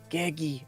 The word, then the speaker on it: Gegi: It's Gegi. Gegi.